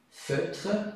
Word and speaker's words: feutre: ouvert et un autre exemple feutre un feutre ici vous pouvez voir aussi la transcription avec le Son e ouvert euh maintenant on a